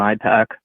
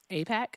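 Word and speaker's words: AIPAC: Uh no, actually uh I think both sides are owned by Israel and IPAC. Apac. You got If you going to say it, you got to say it right.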